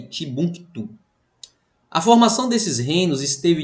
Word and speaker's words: Timbuktu: São palavras de pronúncia árabe que às vezes distorce a língua e a fonética da gente. Djené e Timbuktu.